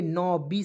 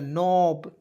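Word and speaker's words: knob: एन ओ डब्लू देखिए के को साइलेंट एन ओ ए देखिए डब्लू नहीं है बी है दोस्तों ठीक है तो इसे पढ़ेंगे न बी से ब लिख दीजिएगा नोब क्या हो जाएगा नोब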